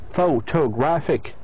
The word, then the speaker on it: photographic: This word actually ends with the suffix IC. And we have learned in the last 2 classes that the IC put the stress, or put the stress at the penultimate, at the syllable before it.